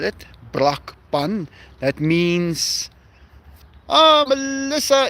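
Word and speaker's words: Brakpan: I live in a town called Braun. B R A K P A N. That's how you spell it. Braun.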